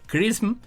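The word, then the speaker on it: XRISM: de rayos X o el acrónimo xr y sm por sus siglas en inglés y que se pronuncia Christmas tiene como objetivo separar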